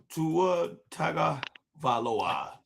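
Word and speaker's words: Tagovailoa: Ta tag Valawa cuz some people be want to know how to say his name.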